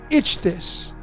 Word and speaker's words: Ichthys: That's how I pronounce it. Ichthys.